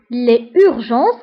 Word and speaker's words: les urgences: فهنا les urgences كنديروا la liaison. بما أنه الكلمة كتبدا بفويل فكنديروا la liaison. Donc les urgences.